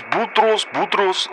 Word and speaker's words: Boutros: Hello, Boutros. It's Robert here in Zimbabwe. No, say my name. It's Boutros, like you say couscous.